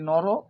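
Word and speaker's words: নরঃ: করবে দেখে নাও যে নর নর নরা তো নরতে কি রয়েছে বিসর্গ রয়েছে তো বিসর্গ এর উচ্চারণ কিন্তু কি রকম হয় হ এর মত হয় অর্থাৎ নর তাহলে নর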